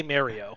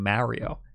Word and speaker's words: Mario: to pronounce mario and they were saying mario in pennsylvania with an a like a like ah like mario but there was like an old like kind of italian sounding guy behind the counter was like hey what are you talking about it's gotta be mario i felt very validated that